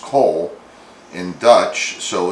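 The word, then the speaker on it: kool: cabbage salad slaw is salad and cool is pronounced coal in dutch so it's coleslaw so there's a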